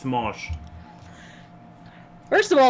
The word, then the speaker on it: Smosh: name is Anthony Padilla no but it's not smoosh it's pronounced Smosh first of all it's not pronounced smoosh either I said smooth yeah yeah Mr uh